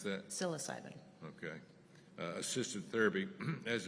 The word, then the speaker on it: psilocybin: How you pronounce that? Psilocybin.